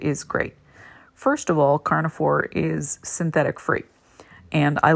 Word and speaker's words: Carna4: So my favorite kibble is called Carnivore, which is spelled CARNA4, and a 23-pound bag of chicken Carnivore sells for $159.99.